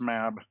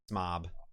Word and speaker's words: Smab: And Smab told us it's pronounced Smab. Short Smab. A like slab. Slab. Yep. Smab. Smob.